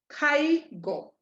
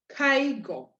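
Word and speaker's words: caigo: so this ends up now being kaigo kaigo kaigo you're hearing that a a little bit stronger than the eye kaigo kaigo you're hearing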